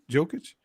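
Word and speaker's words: Jokić: the Lakers and is it how do you pronounce it joking jokic yeah jokic he is I mean he you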